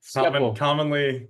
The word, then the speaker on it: Schepel: Say that, can I pronounce that correctly? It's Schepel. Schepel.